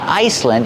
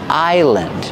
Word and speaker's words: island: your kitchen remember the S is silent it's not Iceland it's Island this is a big